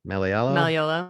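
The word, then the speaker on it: Malleolo: Austin, how do you pronounce his last name? Maliolo.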